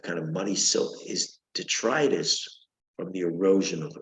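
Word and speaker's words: detritus: everyone knows that okay and another word is detrius detrus De t r i t s DET tritis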